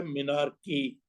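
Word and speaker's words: menarche: उसकी बात करें, इफ a patient is very young, उसकी एज है अराउंड मिनार्की, लफ्ज है मिनार्की, इस तरह से लंबा करके ही बोलिए, ये सही प्रोनाउंसिएशन।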